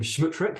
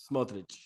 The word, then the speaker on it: Smotrich: Obviously, Ben Gvir, and I was mispronounced his name, Schmutrik. Is that correct? Am I saying that correctly? Smotrich. Schmutrik. Okay, that, yeah, right.